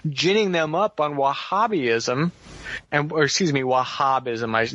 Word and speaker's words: Wahhabism: last 30 years ginning them up on Wahhabism, Wahhabism, it's the right way to say it, the